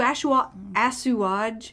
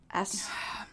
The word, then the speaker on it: assuage: At his client's request, he'd even put a clause in the contract to assuage. How do you say that word? Assage?